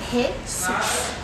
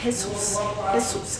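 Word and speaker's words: Jesús: O primeiro é que a letra J em espanhol tem o som de R de rua, não é R, é R.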